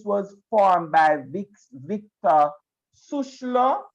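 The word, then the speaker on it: Schœlcher: formed by vic's victor susla i believe that's how it is pronounced no sir sure yes so sure something like that and the french anti-slavery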